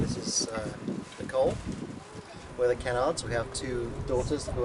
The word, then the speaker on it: Kennard: We're the Kennards.